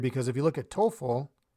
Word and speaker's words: TOEFL: if you look at TOEFL we pronounce it as a word but EF l we